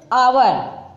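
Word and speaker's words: hour: आवर, आवर means घंटे होता है तो आवर ओ निकल रहा है यहाँ, लेकिन ओ क्या है यहाँ पर आपका साइलेंट ही होगा.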